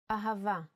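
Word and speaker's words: אהבה: Hebrew Bible now let's spell ahava with a full nikud ahava ah Ava here's the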